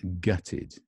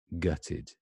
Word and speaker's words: gutted: it's an adjective it's gutted gutted ah notice it's the stresses on this part gut so it's an upside